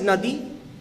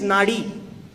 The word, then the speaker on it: nadi: listen to the river the word nadi can be pronounced in two ways one is nadi means river and the other is nadi which also means a river but the river of energy that flows through our bodies and just like